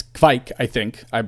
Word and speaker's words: Kveik: And I guess there's, the V is definitely has to be harder. I think that was something like you mentioned that some people were like stemming away from, like Quake or Kveik. But it's Kveik, I hope.